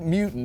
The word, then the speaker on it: Mewton: And at the bottom right down there, that's Dominique Mewton.